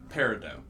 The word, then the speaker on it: peridot: Peridot. Peridot. That. You pronounce the T in that one, I believe.